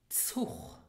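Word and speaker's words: Zuch: So here we have the letter Z, which has in Luxembourgish the ts sound. Ts. Zug. And we have the pair consonants C and H, which are pronounced here as in the verb machen. So you have the ch sound. So this is Zug.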